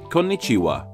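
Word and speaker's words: こんにちは: of 5 hiragana characters, the first one being pronounced like ko, the second one being pronounced like n, and so on with ni-chi-wa. Konnichiwa.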